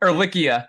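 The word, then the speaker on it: Ehrlichia: Ericia.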